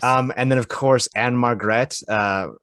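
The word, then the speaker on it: Ann-Margret: and then of course anne margret uh who was at margaret it's it's m-a-r-g-r-e-t margaret and margaret i'm sorry i'd interrupt you but i will not let you mispronounce these ladies okay so jack lemmon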